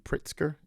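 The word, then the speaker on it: Pritzker: telling a story about um billionaire Chicago JB pritsker did I pronounce it I pronounce it right yes he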